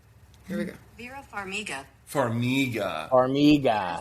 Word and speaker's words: Farmiga: Say, how do you pronounce Vera? Yeah. Here we go. Vera Farmiga. Farmiga. Farmiga.